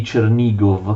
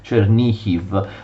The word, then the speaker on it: Chernihiv: Vedete, erano tantissimi territori, i territori di Chernigov, che ripeto gli ucraini pronunciano Chernihiv.